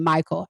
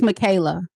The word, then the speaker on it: Michaela: Oh, I'm Look, I said Michael. I pronounced your name wrong. It's Michaela. Okay.